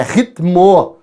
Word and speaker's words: ritmo: A pronúncia correta é adverte, é advogado, é pneu, é ritmo. Só que a maioria das pessoas não falam assim. A gente faz o acréscimo desse i que não existe, mas no nível coloquial esse acréscimo aparece.